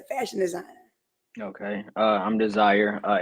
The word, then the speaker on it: D3Sire: man as a fashion designer okay uh I'm desire uh it's spelled D3 s-i-r-e the three stands for the